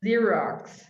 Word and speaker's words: Xerox: sound of it zero it's got two x's but they're both pronounced differently yeah next one it's